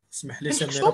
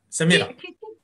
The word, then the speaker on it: Samira: Samira pour la prononciation. Samira.